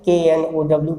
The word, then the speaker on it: know: number 5 में देखिए, सभी जानते होंगे KN यदि एक साथ हो तो के वहाँ साइलेंट हो जाता है, जैसे KNOW, पीछे भी देखा नो हो जाएगा इसका, या KNEE नी,